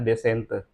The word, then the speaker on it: descente: setempat atau desente sering disebut dengan descente tulisannya bacanya desente baik Eh kawan-kawan sekalian